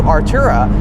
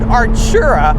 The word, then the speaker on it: Artura: as of recently like the new artura i pronounced it correctly this time in my previous um first look video i completely had that one wrong i said archera i don't know why